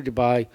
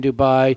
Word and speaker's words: Dubai: go ahead go to Dubai you know it rhymes with Shanghai so you might as